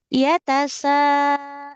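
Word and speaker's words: يَتَسَاءَلُونَ: Ya tasa. Sa-nya 5 harokat.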